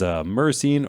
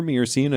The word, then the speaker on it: myrcene: After that, the next one is myrcene or myrcene. Again, some viewer comments on how you say it, MYR. So I say myrcene.